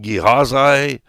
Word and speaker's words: Gehazi: I have listened to the pronunciation, and they say, there's different ways to pronounce his name. But for all practical purposes, it is Gehazi. And I will probably call him Gehazi halfway through this thing, but Gehazi.